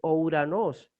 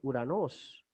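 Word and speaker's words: οὐρανός: Entonces, en la transliteración no resulta poner una O y una U, porque en castellano se va a leer entonces Ouranos, pero en griego la fonética es Uranos.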